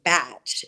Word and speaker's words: Bach: British physician in 1930 Dr Edward Bach or if you live in the UK they pronounce his name bat and it is an English system but it can go either way and um it is